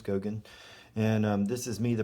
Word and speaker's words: Goguen: that is mine it's Gogan that's how you pronounce my last name as Gogan and this is me